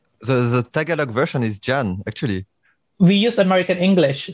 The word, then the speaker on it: Jan: It's actually Jan, if you are taking it from the Western perspective. But I don't know, maybe some part of Europe, they pronounce J as Yan, as Y. Mm. So in a Western perspective, it's Jan, and also in the Philippines.